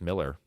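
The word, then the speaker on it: Millar: Miller yeah but and people say he he calls it he says it's Miller but with an A so inter so if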